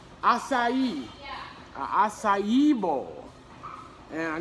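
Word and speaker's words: açaí: And I know I'm not gonna pronounce this right. An akia, how do you say this? How do you pronounce this? What is this, what's this called? Acai.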